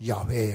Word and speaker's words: 야훼: 이것이 히브리어로 야훼 하나님이라. 이것이 바로 뭐냐 하면 이겁니다. 여호웨, 마지막 묵음이에요. 야훼. 이걸 우리가 번역할 때 여호와라고 번역했어요.